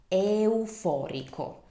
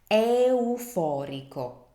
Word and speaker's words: euforico: So I know consecutive vowels can be tricky, so just remember to articulate each vowel, give them the time they deserve, as I always say. Euforico.